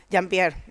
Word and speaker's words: Jean-Pierre: Jean-Pierre, yes. Jean-Pierre, yeah. Yeah, if you say it like in French, it will be like Jean-Pierre. Okay. But he is Chilean.